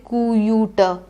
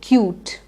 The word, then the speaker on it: cute: e similarly fine cute you can't say kou Utah you have to say it in one go cute these are words with